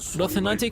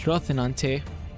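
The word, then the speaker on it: Rocinante: In Spanish, a C is pronounced, so it's Rothanante. At least I'm pretty sure that's what I heard in Spanish class.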